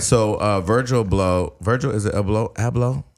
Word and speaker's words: Abloh: So, Virgil is it Abloh? How do you say his last name? Abloh.